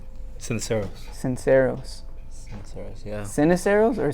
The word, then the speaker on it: Ceniceros: Sinceros. Sinceros. Seros. Yeah. Sinuseros or Senos? Seneros.